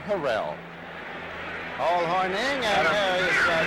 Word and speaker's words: Harrell: Got a back at Green Bay now, Willard Harrell. He wants to be known as Willard Harrell.